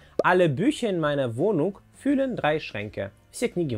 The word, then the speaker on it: füllen: А вот глагол fühlen, наоборот, произносим с кратким ü. И переводится он как наполнять или заполнять. Alle Bücher in meiner Wohnung füllen drei Schränke.